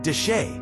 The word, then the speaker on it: Chelly: Canyon Deset, pronounced dash, is one of the most hauntingly beautiful landscapes in the American Southwest.